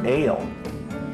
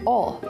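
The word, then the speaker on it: Oehl: was little what about it's pronounced ale ale heating and air conditioning you lied to me that should be pronounced all o-e-h-l that's the furnace and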